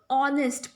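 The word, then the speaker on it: honest: और vowel sound वाला example क्या था, जैसे ऑनेस्ट पर्सन. सो ऑनेस्ट की स्पेलिंग शुरू होती है एच से, एच से शुरू हो रही मतलब कॉन्सोनेंट से शुरू हो रही, बट साउंड किसकी आ रही है, अ की आ रही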